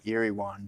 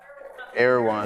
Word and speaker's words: Erewhon: I feel like you'd be if you lived in California, you'd be that Erie one type individual.